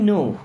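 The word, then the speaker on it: know: means जहां तक आई नो आई नो means मैं जानता हूं या मुझे पता है यहां पे के silent S फॉर एस आई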